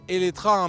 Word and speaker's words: Eletre: Colin Chapman et oui je dis éetra même si ce nom de modèle il se termine par un e car en fait c'est la prononciation en hongrois et d'ailleurs ça veut